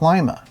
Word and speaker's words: Lima: someone in Lima Ohio and yes it is pronounced Lima I grew up about 50 miles south of